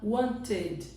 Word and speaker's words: wanted: mais natural para eles, ele coloca o som de ED. Então, aqui o som vai ficar wanted, wanted, certo? Basicamente é quando termina em T.